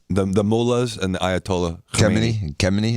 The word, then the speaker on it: Khamenei: The mullahs and the Ayatollah Khamenei. It's like Khomeini, but Khamenei.